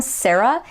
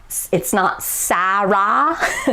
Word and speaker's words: Sarah: Like my name, Sarah, it's not Sarah, like Japanese people would pronounce it. They go Sarah. It's like the same vowel twice, but actually in English, it's more like a sa, followed by an which is a schwa vowel.